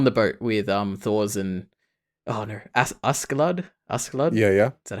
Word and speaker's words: Askeladd: Oh yeah, essentially everything on the boat with Thors and Askeladd. Yeah. Is that how you pronounce it?